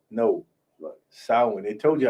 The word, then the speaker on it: Samhain: No, Salem. No. Samhain. They told you how to pronounce it earlier.